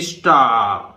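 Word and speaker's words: star: ठीक है, स्टार मतलब इस तरह से लिखेंगे जी कि स्टार, पर रा नहीं बोलेंगे, आर बहुत फेंट मतलब तारे।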